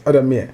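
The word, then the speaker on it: Addameer: So the Trump administration imposed sanctions on I don't know how to pronounce it. Is it Adamir, yes, Adamir.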